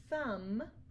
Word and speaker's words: thumb: to remember these tricks so for example crumb Clym comb thumb limb and lamb you don't hear a buck but sound at the end so these are only